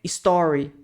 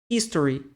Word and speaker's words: history: som de R fraco Então quando vocês falarem Essa palavra não é Story Ok é esse aqui lá dos Stories do Instagram certo esse daqui é o history Ok his history history prescribe como prescrever e